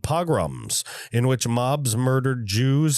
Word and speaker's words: pogroms: I probably said it wrong in the first one. Whatever. Pogroms. I said programs a bunch of times and I explained it weirdly. Pogroms. I'll just say pogroms.